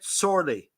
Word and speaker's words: Šorli: hour uh Amrit um so um am I pronouncing your name correctly Amrit sorely Professor Cameron excellent yes very good okay so